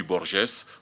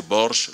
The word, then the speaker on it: Borges: nom de Georges Louis Borges, prononcé Borges, la dernière syllabe n'étant plus ici accentuée.